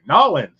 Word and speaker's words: New Orleans: I got to say it right. Norins where I get my beignet and listen to my jazz music and root for the Saints.